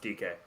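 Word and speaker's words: Dike: Dyke. Hey, it's actually pronounced DK.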